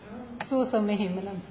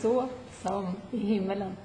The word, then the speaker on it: Så som i himmelen: How do you pronounce the title in Swedish? Så som I himmelen. Say it again. Så som I himmelen.